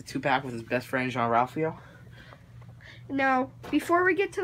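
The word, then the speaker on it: Jean-Ralphio: Oh my gosh, Jean Ralphio, that's how it's pronounced.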